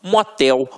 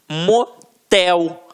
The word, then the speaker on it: motel: exemplificação observem aqui ó oxítonas a última sílaba é a tônica então exemplo urubu motel marajá reparem que na hora da pronúncia de forma mais aguçada você vai perceber que realmente a pronúncia da última sílaba ficará mais forte aqui ó uru o